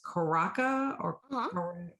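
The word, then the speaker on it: Curaçao: I don't know if I'm pronouncing this right because I've heard it both ways. Curaca or Ratio.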